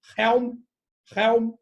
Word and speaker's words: Helm: E tu pronunciou certo, é Helm. Isso aí. Helm. Porque essa é muito doido, né? A gente tem uns sobrenomes que às vezes você fala assim, nossa, eu não sei se esse H é mudo. Você fala Helm. Poderia ser, né? Mas Helm.